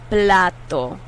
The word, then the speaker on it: plato: is plato platto and listen to the sound of that t it's different from english tea and english tea blows more air out that's an english tea but in spanish it's almost like a d it's like a hard d uh plato plato the